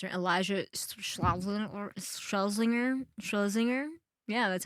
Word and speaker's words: Schlesinger: Elijah Schlesinger? Yeah, that's how you pronounce her. Liza. Yeah. Schlesinger.